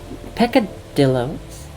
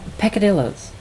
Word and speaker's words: peccadillos: everyone has their own what that piccadillos oh peccadillos I believe is the pronunciation um I came across